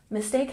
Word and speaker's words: mistake: at pronunciation made made and mistake has emphasis on the second syllable mistake mistake good 41